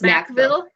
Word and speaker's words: McVille: It's Macville. That's it's spelled McVille.